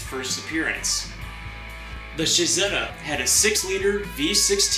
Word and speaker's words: Cizeta: his own car company Shahzada is the Italian pronunciation of Claudia's initials cz Claudio can be seen